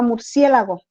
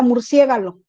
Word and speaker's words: murciélago: el grupo que teníamos ella pronunciaba no pronunciaba murciélago ella decía murciégalo y es que el murcia galo y